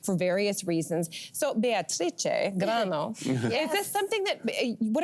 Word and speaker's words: Grannò: Very good, but it's Granno. GRANNO. GRANNO. PERFECT. IT'S LONG AND FAST and it's on the wrong syllable.